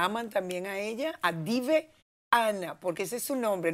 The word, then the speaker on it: Diveana: A los que yo quiero mucho y la aman también a ella, a Dive Ana, porque ese es su nombre, no Diviana, como dice uno. ¿De dónde sale Dive? Dive Ana.